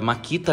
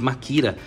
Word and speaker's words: Makita: É da Makita, né? Que se fala no Brasil, que a gente chama de Makira. A gente troca esse T aqui e coloca um R na pronúncia.